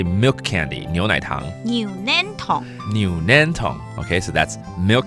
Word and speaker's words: 牛奶糖: 牛奶糖。